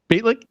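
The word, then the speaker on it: Bejtlich: Beitlich?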